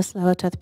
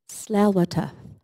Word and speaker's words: Tsleil-Waututh: waters of the Musqueam, the Squamish, and the Tsleil-Waututh people. I actually want to teach you how to say the name of my people. Tsleil-Waututh. Tsleil-Waututh.